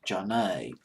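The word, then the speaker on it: Zhané: way that first Motown album was called pronounced John a later on gene Norris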